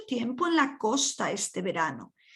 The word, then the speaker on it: verano: Verano is the V and the B in Spanish are the same. Pronounced as a B.